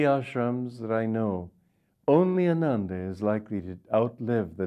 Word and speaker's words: Ananda: he said ananda ananda and ananda and we pronounce it ananda there we don't say anan because it's already enough to get americans not to say ananda an englishman not to say anander and so praise god for small victories at